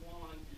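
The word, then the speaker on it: Joan: minute is, you know, when you pronounce his name, it's Juan, but you notice it's spelled differently.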